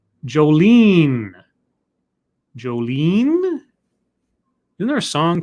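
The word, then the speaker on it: Jolyne: Joestar says, Scribbles, the Y is pronounced like E. Jolene. Jolene?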